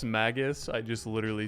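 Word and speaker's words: Magus: I say Magnus and I know it's Maggus.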